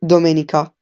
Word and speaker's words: Domenica: In Italian, you would say Domenica. Try to say that. Dominica, Domenica.